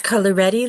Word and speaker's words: Coloretti: It's coloretti like spaghetti, McGough like cough.